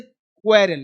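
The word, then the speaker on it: quarrel: ये दोनों ध्यान रखिएगा जब किसी वर्ड में क्यू यू हो तो इसका उच्चारण साधारणत क्वा होता है क्वा क्यू यू मतलब क्वा जैसे क्वेरल क्या बोलेंगे झगड़ना क्या है बोलेंगे क्वा क्वेरल यह क्या है क्वेस्ट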